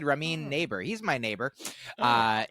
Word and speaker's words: Ramin Nazer: funny because you know his name name is Ramin ner and sometimes people will pronounce it like Ramin nazer or you know sometimes sometimes then he will lean into it and be like I'm Ramon his name's ramine yeah um and I